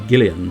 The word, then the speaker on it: Julian: yes dear i suppose arguably it's supposed to be gillian perhaps then but i think the name is technically pronounced julian dear julian when you